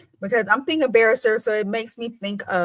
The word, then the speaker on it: barrister: No, because they never say it right. They say barista. So they don't even go there. So for you to say barrister, sis, we are besties now. No, people do not say it right. They say the old fashioned barista. And I'm like, there is no A at the end.